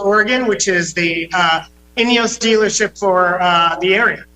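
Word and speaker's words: INEOS: Turismo in Wilsonville Oregon which is the uh inos dealership for uh the area wow well that's a fancy dealership there I like it all right so did I pronounce it right inos yes inos Grenadier is the name of the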